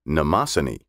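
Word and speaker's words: Mnemosyne: in greek mythology there is a goddess called namasini spelled capital m n e m o s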